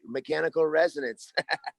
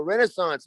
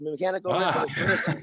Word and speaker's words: Mechanical Resonance: Hey, and you actually pronounced the name of it right, Mechanical Resonance. A lot of people go Renaissance, Mechanical Resonance.